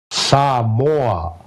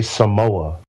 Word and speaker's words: Samoa: I'm asking because or S Samo that's how you say it properly but people in America say Samoa Samo they say s